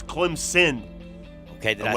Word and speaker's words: Clemson: but i love the the southerners love to put the z for clemson and northerners will tell you there's no z it's clem's sin okay did i say